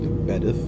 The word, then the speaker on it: Bedworth: I think it might have been Bedworth, pronounced Bedith. Welcome aboard this West Midlands Railway. That's the next one. Now, that one's been reopened some years as Bedith. The next stop will be Bedworth. Really nasty, isn't it? Hopeless. This is Bedith. You don't pronounce the W.